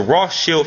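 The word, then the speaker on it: Rothschild: the term rth Shield the word rth Shield is how you actually uh uh say in the correct pronunciation he basically made that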